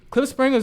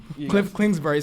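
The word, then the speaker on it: Kingsbury: up points on them clip springer as our head coach does not deserve that job you gotta slow down say his name cliff klingsberg sorry that they just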